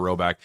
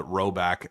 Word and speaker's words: Rhoback: Roback has released so many items within their new licensed game day collection.